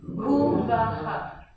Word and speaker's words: Bhuvaha: So BH is pronounced B, so it has a bit of an expired sound, and it actually, when you go B, it actually drops you into your heart center when you say it with the proper pronunciation of the Sanskrit.